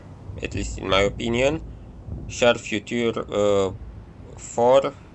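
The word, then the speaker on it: Char Futur 4: Char Future 4, that's how the French people would pronounce its name, is accurate and fast,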